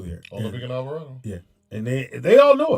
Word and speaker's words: Alvarado: So on Alvarado Street, keep the mic by you. I've seen one. So on Avocado Street, am I saying it right? Alvarado. Alvarado, yeah. Yeah. So that's where Olivero. No, Alvarado.